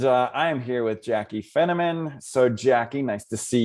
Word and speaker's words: Finneman: I All always right, so say Jaclyn Finneman rhymes with cinnamon, but I'm not a Spice Girl. That's good. That is good. All right. So Jaclyn Finneman rhymes with cinnamon, is